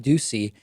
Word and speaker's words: Doocy: see I always have to be careful to pronounce it correctly when you see co-hosts Steve Doocy and I believe it's Ainsley Earhardt they don't